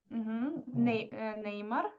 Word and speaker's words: Неймар: Неймар. По-моему, по-русски он произносится Неймар. Неймар.